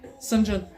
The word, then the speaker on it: St. John: met this dude called Sinjin. Yeah, he's a white dude. He's not Indian. Of a name like it's spelled like St. John.